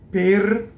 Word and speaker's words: per: Per does not rhyme with pear in English. Per pɔco, O, open O.